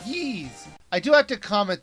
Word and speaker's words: Ys: this game was called ye I do have to comment that even though the game looks like it should be called wise they pronounce it ease this game was originally